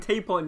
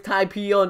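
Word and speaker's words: Tapion: And all these people are saying tape on, he gave him the sword. Tape on. Yeah, bruv, you pronounced that wrong. It's type-on.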